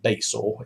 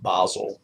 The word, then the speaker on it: Basel: So if you see this here, it's not Basel. It's pronounced, well, it's actually pronounced Basel, the Basel Agreement.